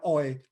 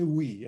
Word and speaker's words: Oei: Nah, mungkin teman-teman yang lain saya perlu juga tekankan, seringkali saya dengar bacanya Oi. Sebenarnya ini Wi, ya.